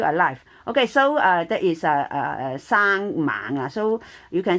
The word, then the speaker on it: 生: 生 this is double A 啦，生啦，you can also pronounce as a single A.